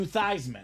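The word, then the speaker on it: Theismann: Trophy they said Joe let's change the name of of your last name from thesman to thyman W now at the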